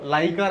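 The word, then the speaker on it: liquor: সেটার নাম হচ্ছে দেখো লাইকার অ্যামোনিয়া বা লিকার অ্যামোনিয়া একচুয়ালি ইংরেজি উচ্চারণ স্পেলিংটা হচ্ছে এরকম এল আই কিউ ইউ ও আর তো এই হিসেবে উচ্চারণ হওয়া উচিত লিকার অ্যামোনিয়া কিন্তু আমাদের বাংলা বইগুলোতে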